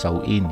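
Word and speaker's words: Samhain: back to the Celtics festival of Sain pronounced Sain yan which was celebrated around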